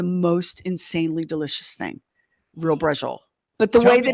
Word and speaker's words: Braciole: It looks like braccioli. Yeah. But it's pronounced brajol. Oh, buddy, is it good.